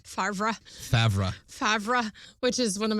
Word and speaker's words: Favre: say it wrong but that's also it's the same misspelling as Brett Favre's last name is f-a-v-r-e Favre favorite which is one